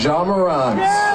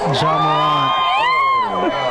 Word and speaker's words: Ja Morant: two newest signature shoes for Devin Booker and Ja Morant. John Morant.